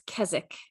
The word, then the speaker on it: Keswick: Jan from the UK has informed us that it's Keswick if you are in the UK, which is where this originated, this name.